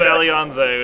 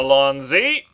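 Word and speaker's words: Allons-y: He said Alianze, which is, you know, he's watching too much Doctor Who recently or something, I guess. That's super not how you pronounce that. Okay. How do you pronounce it? Nice job, though. Alonzi. Okay. Alonzi.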